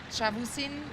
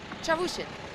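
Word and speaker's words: Çavuşin: The next checkpoint will be in Shavusin. Actually, I'm going to get help. How do you say it properly? Shavusin? The 4th checkpoint. How do you say it? Chavushin.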